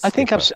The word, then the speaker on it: Skypper: So I said Skyper because he'd put a SKYPPER, which might be how it's spelt, but it's pronounced Skipper.